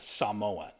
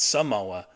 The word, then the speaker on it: Samoa: And yes, he was very particular about the pronunciation of Samoa, not Samoa, Samoa.